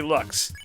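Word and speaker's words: Loox: is a looks no it's not pronounced looks it's clearly looks now we don't need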